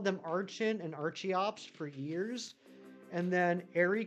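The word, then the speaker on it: Archeops: the arch the arch is supposed to be based off of archaeology and I said you know what that actually makes a lot of sense I never thought of it that way so since then I changed it in my mind to Arin and Arch Ops and then same thing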